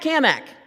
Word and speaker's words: Cammack: Hey, Cat Kamak. Now, he always made a point to say my name right, and he put an emphasis on the Mac, because he was always